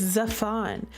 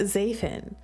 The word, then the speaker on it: Zafon: It's Zafon, not Zafan.